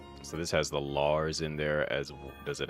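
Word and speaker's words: Larze: It's L A R Z E. Lars LZ. Although the I think the E is silent. H silent. So it's Lars.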